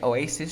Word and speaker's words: Oasis: Como en la canción de Oasis, de que se pronuncia Oasis, she's electric.